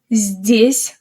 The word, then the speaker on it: здесь: Здесь has a soft Z, followed immediately by D. We say здесь, здесь.